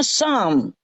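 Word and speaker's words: psalm: gini tuh eh S tapi p enggak boleh dibaca S yang lain boleh dibaca yang ini harus dielete tapi tetap ditulis bacanya Sam kalau ditambah Mon di sini salmon itu justru l-nya enggak boleh dibaca yang ini yang didelete dikorupsi yang ini jadi bacanya semen Kalau yang di sini bacanya Sam Mazmur Mazmur kalau yang begini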